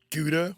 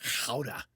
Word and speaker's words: Gouda: Most Americans pronounce it Gouda, when in reality it's Gouda.